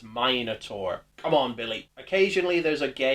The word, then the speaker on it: Minotaur: sends her Minotaur monster, which they mispronounce the name of. It's the most menacing Minotaur. Nice alliteration, but it's Minotaur.